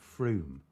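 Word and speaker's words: Frome: with Summerton and oh how do they pronounce it now Froome it's not spelled Froome though is it um and then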